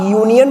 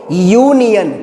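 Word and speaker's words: union: अब आप यूनियन बोल के देखो, हालांकि U से लिखा हुआ है, बट आप उच्चारण करके देखो यूनियन, यूनियन आपका या से स्टार्ट हो रहा है, ध्यान रखना किससे स्टार्ट हो रहा है, या से।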